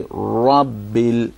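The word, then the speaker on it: رب: So don't say Rabbil, it's Rabbil. Rabbil. Rabbil.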